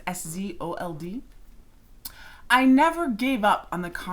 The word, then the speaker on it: Szold: That's a quote from Henrietta Szold, I think is how you say her last name. It's Szold.